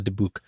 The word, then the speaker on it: dybbuk: evil spirit in Jewish mythology is called a dybbuk and that's that's always a little scarier than